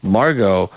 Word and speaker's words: Margot: my brain was like you need to pronounce the T in that uh Margot he keeps telling her